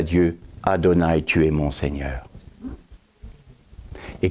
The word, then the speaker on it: Adonai: Il se restaure parce que la vibration de notre adoration est à la même fréquence que le tétragramme qui se prononce Adonai.